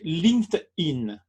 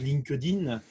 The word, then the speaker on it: LinkedIn: serait le lean steady linked in oui voilà on a tendance à le prononcer à la française linkedin moi le premier alors que c'est linkedin normalement en version originale ce qui veut dire